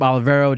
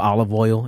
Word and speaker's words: Olivero: this call, at Olivero, GabeOlivero. So Olive Oil, if you want to say it like that.